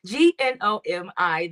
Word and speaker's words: Gnomi: Gnomi. The G is silent, and my moniker is Get to Know Me.